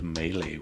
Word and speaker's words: melee: Uh the pronunciation. So something like decades of my life. I just just last week I found out that decades of my life. I mispronounced that word and now I have to get used to the real pronunciation. H the melee weapon is what I wanted to say.